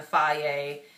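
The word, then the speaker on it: Fage: of Greek yogurt, which, I've been using the Faye, it's spelled F-A-G-E, 2%, extra protein, you know, low fat.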